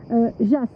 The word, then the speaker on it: Jas: chose d'assez fort alors le mot Jas ça se prononce avec un S et pas avec un Z on m'a fait remarquer d'ailleurs cette petite chose là Jas alors JAAS ça veut